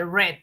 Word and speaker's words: read: pronunciación ya cambia como el verbo read que es leer en en presente se dice read en pasado se lee read no pero se escribe igual lo que cambia es